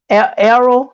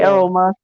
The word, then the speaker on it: Errol: mr um mr uh errol musk arrow that's how you say it arrow yeah it's been a